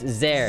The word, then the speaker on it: Sehr: It's like Z though. It's Zer. Zer.